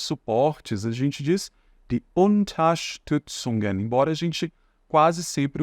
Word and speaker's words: Unterstützung: Die unter, primeiro você vai falar o unter, depois você vai falar st, depois Song. Die Unterstützung.